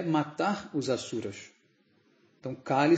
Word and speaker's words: Kali: Então, Kali se fala com o A aberto, Kali.